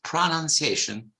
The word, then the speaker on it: pronunciation: The noun is sostantivo, is not pronunciation, it's pronunciation with a different spelling. You don't have OU, you have UN. I mean, no O, pronunciation.